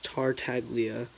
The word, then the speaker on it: Tartaglia: name if you wonder my last name actually is pronounced like it's Tartaglia a lot of people call they started big tartar sauce or like tortilla well now that who